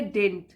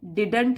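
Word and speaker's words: didn't: पढ़ेंगे तो हम बोलेंगे डेंट इसमें जो सेकंड दी होता है उसको हम प्रोनाउंस नहीं करते हैं देदूंट नहीं बोलते हैं डेंट बोलते हैं सम टाइम और काफी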